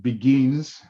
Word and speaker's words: beguines: It is called beguines, a French word, and I have discussed with my colleagues that we can pronounce it that way and be reasonably correct.